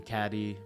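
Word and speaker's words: Cady: Janice and Damien telling Caddy, "Beware of Regina George" in Mean Girls, it's pronounced like Katie, and the death of Mufasa in The Lion King.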